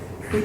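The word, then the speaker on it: Hui: And so we indicated that we were interested in taking it. We already had 4 kids, so one more was nice. So we went to pick up H-U-I, and pronounced we, and at Lutheran Social Services, I think it was.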